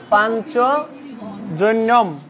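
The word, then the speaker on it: পাঞ্চজন্যম্: আমরা যখন উচ্চারণ করব তখন এটা হবে পাঞ্চজ নিয়ম। পাঞ্চজনিয়ম কি জন্য হবে? দেখো, আমরা জানি সংস্কৃতে যখন নিয় থাকবে, নিয় হবে ইয়, উচ্চারণ কি হবে? ইয়, ইয়র মতো হবে।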